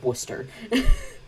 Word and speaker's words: Worcester: city and we all go worcester i know it's spelled worcester but it's worcester i know i know it's terrible but that's